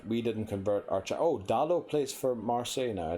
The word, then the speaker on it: Dalot: And then I don't know if Dallo is pronounced Dallo or Dalot. Because I heard Cristiano Ronaldo say his name one time and he definitely said Dalot.